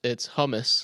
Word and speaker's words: hummus: It's hummus. Oh, hummus.